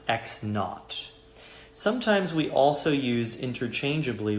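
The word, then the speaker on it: x naught: So that is their position at time equals 0 seconds is called x sub0 or it's pronounced x knot.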